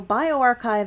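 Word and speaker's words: bioRxiv: your own publications so bioarchive and med archive are offshoots of archive uh spelled the same way just a capital r x i v and that is a multi-subject pre-print repository that has been around since 1991.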